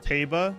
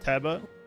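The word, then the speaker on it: Tauba: I was today years old when I noticed uh it's pronounced Taba and not TBA.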